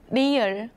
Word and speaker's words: 리을: Its pronunciation falls somewhere between the English L and R. Think about this shape like a marble rolling down a track. 리을.